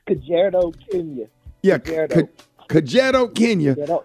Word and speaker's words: Kajiado: Thank everybody that supported the African Island Church Girls Boarding School in I can't pronounce it. Reverend Solomon. No, what's the city? It's Kajiado, Kenya.